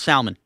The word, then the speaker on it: Salmon: Can I have some grilled salmon? You pronounce the L. Yeah, that's how it's spelled. I think it's a silent L, like a salmon.